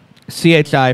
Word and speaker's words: CHI Franciscan: Do you pronounce it Chai Franciscan? CHI Franciscan, CHI. You don't pronounce it Chai.